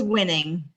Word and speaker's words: Wiening: how do you say how do you say your last name it's winning winning okay you know